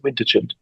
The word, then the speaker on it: vintagent: vintagent vintagent what the the pronunciation is vintagent yes yeah and influential website